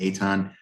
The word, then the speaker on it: Ethan: Ethan highly but it's my first name is pronounced Eton it's uh looks like